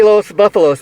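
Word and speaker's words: Los Búfalos: a band um boli los buffalos am i pronouncing the band name right yes sir you're pronouncing right your acting is way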